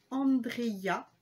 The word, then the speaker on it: Andrea: alors, ça se prononce Andrea.